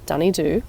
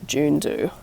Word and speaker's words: Dunedoo: decided to come to dny Doo local Court to do this part on speaking it's pronounced dny do not June do by the way dny